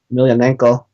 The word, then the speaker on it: Emelianenko: I'm actually one of the few people among my friends who can pronounce his last name correctly, Emelianenko.